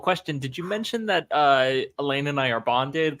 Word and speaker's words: Elayne: Foul-Lane. Very foul. Very unpleasant person. It's also not how I say this name, but it's valid. How do you say it? Elayne.